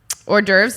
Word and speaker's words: hors d'oeuvres: so horny ovary uh is the french name for appetizers it is spelled h o r s d apostrophe o e u v r e or derf appetizer refers